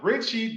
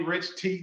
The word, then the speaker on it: Ritchie: Ritchie, don't call me Rich T. whatever. I love it, man. If y'all don't know, the T is silent.